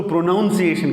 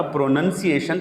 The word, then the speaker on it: pronunciation: پروننسیشن، کچھ لوگ اس کو پروناؤنسیشن کہتے ہیں، یہ پروناؤنسیشن نہیں ہے. اس کو جو ورب ہے، جو فعل ہے وہ تو پروناؤنس ہے، لیکن اس کا جب یہ ناؤن بنے گا پروننسیشن تلفظ تو اس کو پروننسیشن کہیں گے، پروناؤنسیشن نہیں کہیں گے.